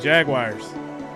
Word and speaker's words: Jaguars: What is the correct pronunciation of Jaguars? What I just said, Jaguars. That's the correct pronunciation. Just how I said it.